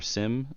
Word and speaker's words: SIEM: Rapid7 for the integration that they built for SIEM tools, or SIM, depending on how you pronounce it.